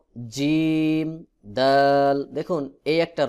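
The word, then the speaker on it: جيم: দিয়ে উচ্চারণ করতে হবে অনেকে জিম এইভাবে উচ্চারণ করে এটা ভুল উচ্চারণ জিম জিহ্বার মধ্যখান থেকে চাপ দিয়ে উচ্চারণ করতে হবে যেমন জিম জিম দাল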